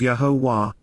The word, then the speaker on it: Yahowah: And, Yahowah, the proper pronunciation of Yahowah, our ElYah, God as directed in his Torah,